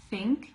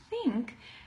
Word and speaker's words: think: to the store okay that th is unvoiced if you put your hands on your throat and you say that word think you can even do it with me nobody's watching so don't feel like you're gonna look stupid or something okay so put your hands on your throat and say think when you do the th sound you should not feel any vibration here because it's an